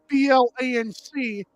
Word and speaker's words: blanc: It's spelled like O U R S B L A N C. It's pronounced Blanc.